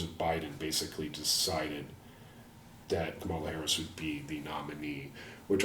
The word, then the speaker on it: Kamala Harris: Yeah, that was just kind of a bad thing, and I was just I was checking my pronouncing it as Kamala Harris, right?